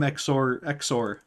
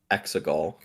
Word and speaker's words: Exegol: I'm sure he's from Exor. Isn't this what the place is called in Star Wars? The Sith planet Exor? No, Exegol.